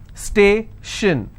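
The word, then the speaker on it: station: syllable t-i-o-n again the same example stay shin so i will stress on stay if i have more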